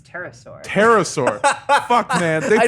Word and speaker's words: pterosaur: petasaur, A what? A what? petrosaur. I don't know how to pronounce this word. I think it's pterosaur.